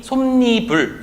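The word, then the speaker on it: 솜이불: 그래서 발음이 솜니불 이런 식으로 발음이 된다라고 하는 거죠.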